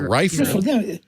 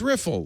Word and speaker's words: riffle: opening riffle right not rifle rifle it's going to take you i don't know this is i read i have two it's riffle like wiffle ball it's not a rifle ball i just don't you